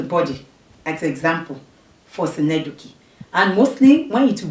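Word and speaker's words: synecdoche: Then another one, next is senedoki. Senedoki is pronounced that way and spelled that way because it has Greek origin.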